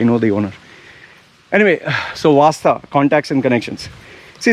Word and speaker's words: Wasta: Okay, there's a magic word in UAE called Wasta, WASTAA, or WAASTAA. See how I WAASTAA. That's an Indian, or my way of saying it. You ask a Brit, W, how do you say? WAISTAI.